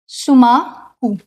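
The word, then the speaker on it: Schumacher: EF शुमाकू, ठीक है। इसका प्रोनाउंसिएशन ये होगा, स्पेलिंग ऑल्दो अलग है बट इसका प्रोनाउंसिएशन ये है, ठीक है।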